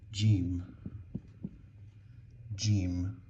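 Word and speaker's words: جيم: But when I put a dot inside here, this is now gimm gim, which is the letter of the sound j.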